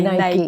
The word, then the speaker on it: Nike: You say Nike.